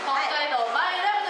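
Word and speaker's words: 北海道米ラブ: くださいはいちなみにマイラブの前はコメということなんで北海道コメラブとはい北海道マイラブと読みますが北海道米ラブ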